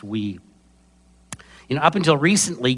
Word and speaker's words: Wii: and yes that is spelled Wii but pronounced we you know up until